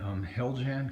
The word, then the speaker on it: Heljan: they may have been Heljan kits. I think that's how you pronounce it, H-E-L-J-A-N. Which it is, and I know